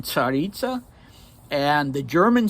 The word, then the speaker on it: Tsaritsa: So a Tsar in Russian, it's spelled, in Russian there's a letter TS. It's a single letter that makes the Ts sound. So in Russian it's pronounced Tsar and Tsaritsa.